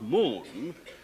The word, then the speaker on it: moon: that we say Moon you say Moon obviously is spelled with two o's m o n and that was obviously pronounced Moon and when the o